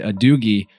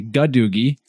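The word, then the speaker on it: gadugi: go looking that word up, we actually said a doogie, but we found out we had an error in the pronunciation. It's actually gadoogie.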